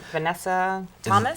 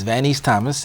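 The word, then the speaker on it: Vaneese Thomas: have on February 18th am I pronouncing this correctly Vanessa Thomas it's vanice Thomas and vanice is out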